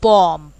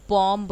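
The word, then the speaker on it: bomb: उसको हम बोलते हैं और बी वर्ड नहीं इस्तेमाल हो रहा होता है बॉम बॉम बोला जाता है बंब नहीं बोला जाता है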